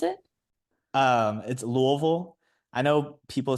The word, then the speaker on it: Louisville: Um sorry, can I just ask how do you pronounce it? Um it's Louisville. I know people say like Louisville, Lewisville and stuff like that, but if you're from Louisville, people say Louisville and so that's how you know you're not